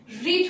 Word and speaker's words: read: The Nobel has been V3 read, read হচ্ছে main verb, তার V3 হচ্ছে read। Spelling একই কিন্তু প্রোনাউন্সিয়েশন আলাদা, read, read, read।